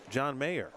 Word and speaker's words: John Mayer: In front of us, John Mayer. Not the musician, but that's how I remember to pronounce his name correctly.